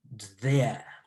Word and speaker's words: there: It almost sounds like dear, but with dear, we place the tone at the front of the, behind the front teeth, but closest to the palate, but the upper palate. But here, when it comes to there, the tongue is coming rather closer to being in between the upper and the lower teeth.